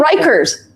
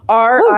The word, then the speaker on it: Rieker: Oh, they're Rikers. Guys, they're Rikers. They're a brand name. Rieker. Like the prison? I think that Riker is spelled without the E, one of the E's.